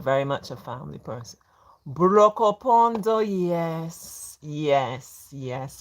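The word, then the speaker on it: Brokopondo: Brocopondo, yes, yes, yes, correct, correct, correct. We always made a joke of like trying to pronounce it. Brocopondo.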